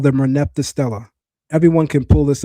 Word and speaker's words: Merneptah: The name of the pharaoh is in Medu Neter pronounced Meri Ptah, which means the beloved of Ptah. It comes into Greek as Merneptah.